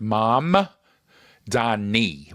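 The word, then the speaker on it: Mamdani: I have to pronounce it right. Right. Zoron Manni. So the M is first. Mam Dani with an N.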